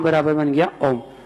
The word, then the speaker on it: ओम: नाभि से आवाज निकालना चाहिए, आ आ, हृदय तक पहुंचते ओ, कंठ तक ऊ, और जिह्वा से बाहर निकलते समय मां, आ ओ ऊ मां। ऐसे उच्चारण करेंगे तो उच्चारण ध्वनि से निकलेगा।